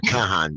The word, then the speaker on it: Kahan: um Sarah thank you sah Kahan it's not Khan Kahan right how do you say